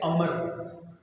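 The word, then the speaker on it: عمرو: जो पढ़े लिखे हैं, अगर उमर के आगे वाव आ जाए तो वो उसको उमरू पढ़ते हैं। उसकी सही प्रोनाउंसिएशन क्या है? अमर। जब वाव आए तो उसको क्या पढ़ना है? अमर।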